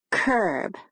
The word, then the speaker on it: curb: Now listen to the word curb. It has a different vowel sound. Curb. The Bossy R strikes again.